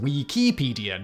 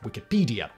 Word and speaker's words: Wikipedia: Similarly, Wikipedia should technically be pronounced Wikipedia, not Wikipedia. This is if we're going to follow the lead of the original creator of the first wiki, Howard Cunningham, when he applied the Hawaiian word pronounced wiki, meaning quick, to his bit of